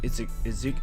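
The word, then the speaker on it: Iizuka: His name is actually Izuka. I can never pronounce it.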